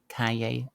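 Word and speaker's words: Calle: Kaye is solo property.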